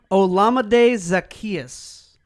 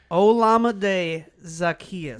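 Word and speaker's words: Olamide Zaccheaus: name to pronounce and i went for a pronunciation guide olamide zacchaeus i'll go with it okay i'm good with it i looked it up i listened to it a couple of times olamide zacchaeus you'll say that but you won't say albert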